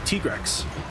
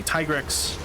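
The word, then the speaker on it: Tigrex: for that title is the Tigress. Some people say Tigris. Uh, it's up to you how you want to pronounce it.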